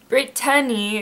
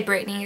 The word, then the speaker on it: Brittany: So Brittany is how you pronounce it, because there's B-R-I-T-T-A-N-Y is how you spell my name, but I just say Brittany, it's easier. People usually don't want to say the "t" in it, Brittany, so it's Brittany.